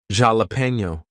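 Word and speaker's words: jalapeño: Even though it's written there, I think J is one of the ones that's really rare for it to be silent, but you will have something like a borrowed word from another language like jalapeno. We'll say that with an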